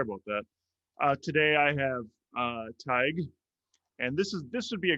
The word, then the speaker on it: Tadhg: So to pronounce my name, forget about the spelling. It's like tiger without the so it's Tadhg.